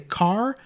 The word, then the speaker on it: char: we have a character which is spelled c-h-a-r sometimes I'll say car or character I will Almost Never Say Char then we have double